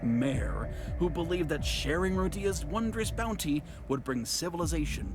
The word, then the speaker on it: Rodia: Rodia? No. I'm gonna keep pronouncing it as Rodia.